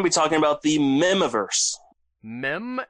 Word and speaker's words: Mihm: talking about the miniverse mem as in like like meme but without the e at the end as in Christopher are mem which is spelled mi hm okay is Christopher armed